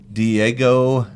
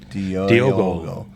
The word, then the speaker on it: Diogo: Diego. No, it's not Diego. It's Diogo. That's why he's French, right?